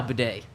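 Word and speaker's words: Badie: batty it's not baddy it's Tyler batty but last week I was told by someone very close to him he decided to change the name the the way his name is pronounced it is now bedet Tyler bedet is the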